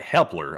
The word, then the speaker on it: Hepler: And our next one goes to Matt Helper once again, who puts in a 5. Matt Hepler. I think I've been saying his name wrong. It's Matt Hepler.